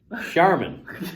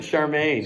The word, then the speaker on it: Charmin: I can remember the mispronunciation of Charmin. Squeeze, I think I called it Charmaine. Squeeze the Charmaine.